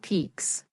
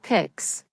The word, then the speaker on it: peaks: also notice the word peaks it uses the long vowel It should sound like peaks, not picss.